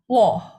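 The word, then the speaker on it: 워: Woh. Wo kan? O yang ini yang sebelah ke sebelah kiri panahnya O. Lalu kita tambahin U jadi wo. Woh, wo bukan wo tapi Woh.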